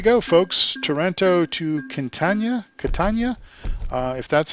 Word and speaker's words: Catania: and there we go folks Toronto to continue Catania if that's how you say it we earned